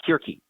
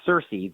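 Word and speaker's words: Circe: help keep us grounded there are many different ways to say some of the ancient Greek names depending upon whether you want to use the hard the the K version of the hard C or not Cersei the wizard The the Sorceress could be announced Kirky you could say a turkey but it has become so um colloquialized as Cersei that most people say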